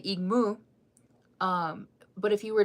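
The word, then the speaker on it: igmú: Oh, so cat in Lakota is egmoo. So, if you spell it out, it' be I g mu. You say igmoo.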